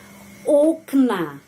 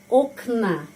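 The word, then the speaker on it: окна: damma knigi buku-buku knyigi okna okna di sini pengucapannya karena penekanan berada pada huruf o itu O tetap dibaca o na koma koma ya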